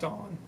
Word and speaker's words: Dan: It's pronounced Dawn. Right. Even though it looks like Dan.